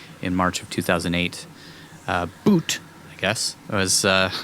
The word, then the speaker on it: Bout: exploits of arms dealer Victor bout boot boot b-o-u-t it says pronunciation looks like it's boot boot we recorded in Wikipedia